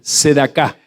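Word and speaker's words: צדקה: Y en este contexto aparece la palabra limosna, que para el idioma de Yeshua se pronunciaba así, después lo repite, sedaká.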